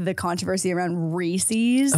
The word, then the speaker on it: Reese's: Reese's?